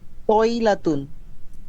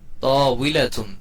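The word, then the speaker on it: طاولة: তয়লাতুন, জি, আবার বলেন। তয়লাতুন, তউইলাতুন, তউইলাতুন। ওয়াও হবে।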